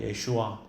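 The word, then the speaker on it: ישוע: 근데 예수님이라고 말을 하지만 이건 우리 성경에 이렇게 예수라는 발음으로다가 해놓은 거지. 원래는 예슈아입니다. 예슈아.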